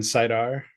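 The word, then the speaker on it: saidar: Oh, Sidin and Sidar. Yeah, Yeah. Sidin and Sidar is how I say it. I have seen people pronouncing it Sidine.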